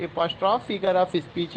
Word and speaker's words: apostrophe: Direct एपॉस्ट्रॉफी है, एपॉस्ट्रॉफ है. एपॉस्ट्रॉफ को जो है आपको करना है, the pronunciation is नॉट एपॉस्ट्रॉफी, that is एपॉस्ट्रॉफ.